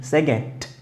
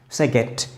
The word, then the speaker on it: second: And here, first, second, je vous rappelle, D pronounced like T, second, second.